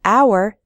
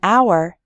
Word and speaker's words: hour: H H sound but in the word hour the H is silent so we say an hour we say a non-governmental